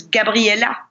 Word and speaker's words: Gabriella: And so they kept the French way of saying my name, which is Gabriella.